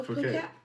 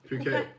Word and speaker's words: Phuket: Is that No, Phuket? Phuket. Phuket. Phuket. Phuket. P-H-U-K-E-T. I didn't know how to spell it, so I just put So you put pocket because pocket.